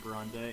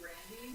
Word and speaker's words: Grande: quote because I don't know much about Ariana Grande and I don't know much about her religious views. It's I'm one of pretty her- it's one of her last songs. name is Oh, actually okay. pronounced Brandy.